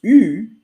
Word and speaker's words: eu: And so it's really from the verb avoir, and the pronunciation is U. U. U. U. U. U. Voilà, U. And it's really important because it's also the pronunciation of the letter U in French.